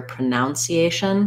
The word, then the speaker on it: pronunciation: pra none pronunciation what i often hear the mistake there is i'll hear pronunciation because we do say pronounce but then when it comes to pronunciation it changes to a schwa the spelling is different as well pronounce we have this spelled this way pronounce but pronunciation we lose that that o um not that you we lose the o um good and then